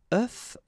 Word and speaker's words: œuf: And the tricky thing when we're talking about eggs is that if you listen carefully, the pronunciation is changing quite much because for the singular form it's œuf, but then for the plural form here it's œufs, okay?